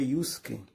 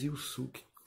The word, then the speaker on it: Yusuke: Eu falei Yusuke porque a pronúncia original mesmo do nome é Yusuke. A gente aqui em português mesmo diz Yusuke.